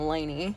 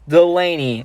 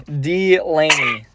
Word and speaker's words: Delaney: But if you don't pronounce the D in Delaney, then people are just gonna think you're saying Laney. Okay, well, guys, if you didn't, it's Delaney. Delaney.